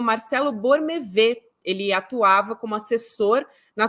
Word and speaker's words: Bormevet: Metrópolis, inclusive o Bormevet, se escreve, né, Bormevet, mas acredito que se fale Borme, que é a pronúncia do nome dele.